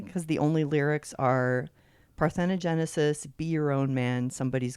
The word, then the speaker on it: Parthenogenesis: All right, well, let's listen to Parthenogenesis. Did I pronounce that right?